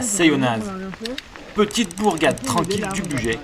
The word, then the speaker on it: Seillonnaz: Oui, on prononce bien le Z à la fin, sinon à quoi bon le mettre?